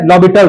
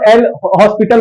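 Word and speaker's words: L'Hôpital: अच्छा, बहुत लोग ना इसको गलत प्रोनाउंस करते हैं, इसको एल हॉस्पिटल बोलते हैं। ठीक है, तो आपने इसको एल हॉस्पिटल वगैरह नहीं बोलना है, बेइज्जती हो जाएगा।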